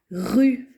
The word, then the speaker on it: rue: Et deuxième mot, la rue. Rue, j'entends deux sons. Rue. Et là aussi, il y a un E muet, la lettre que je n'entends pas à la fin, mais je dois l'écrire.